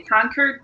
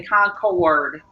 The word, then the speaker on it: Concord: two gotcha okay like when people see my city they'll say conquer don't do that you have to say concord it's three syllables so it's like a